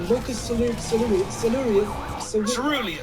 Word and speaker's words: locus coeruleus: It turns out there's a structure in the brainstem called the locus coeruleus. yes, exactly. Your pronunciation is brilliant.